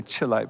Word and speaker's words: chelate: So what's chelate mean? The word, some people say chelate, but it's pronounced chelate.